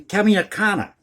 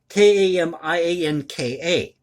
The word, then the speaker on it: Kamianka: In let me pronounce the town for you here, in Kamianka. Kamianka, Kamianka, in the Ukraine.